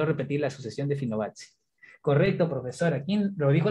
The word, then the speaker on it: Fibonacci: La verdad que es italiano, pero creo que se pronuncia Fibonacci.